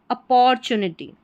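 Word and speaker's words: opportunity: यहां पर टी यू को चू करके प्रोनाउंस करेंगे।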